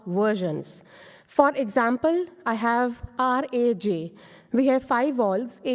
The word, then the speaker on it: Raj: name called r AJ in us people might pronounce that Raj or rage but as I told earlier that in a